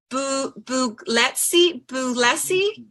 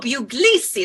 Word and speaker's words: Buglisi: It's Buglisi. Buglisi, beautiful. Oh, Buglisi, that's beautiful. Now I won't ever say it wrong again.